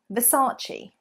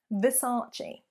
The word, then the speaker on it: Versace: great when English people are saying it the mispronunciation Versace Versace you can imagine some English people with the